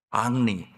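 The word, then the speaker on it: Henri: 이 사람이 예언집을 폈는데 여러 예언을 했는데 그중에 대표적인 예언 3가지 살펴보면, 첫째는 프랑스 왕 헨리 2세, 프렌치 발음으로 앙리 2세가 어떻게 죽을 것인가 예언을 했는데, 그 근위병들하고 마상 경기라고 있잖아요.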